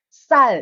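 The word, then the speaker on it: 쌀: So it's like saying double S without aspiration. The perfect example is sal in Korean, also sal, double S ang gamit din doon. When you say sal in Korean, it's rice.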